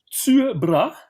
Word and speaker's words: Tycho Brahe: En attendant, il y a un Tuebra, Tycho Brahe de son nom plus commun. En danois, le Y se prononce U.